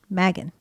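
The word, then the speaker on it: Magen: it's Megan or Megan I want to say Megan but it's m-a-g-e-n Megan Megan so it's like with a Southern Magnum it's Texas people saying Megan Megan Megan they didn't know how to spell it so they spelled it like it sounded Megan yes they did but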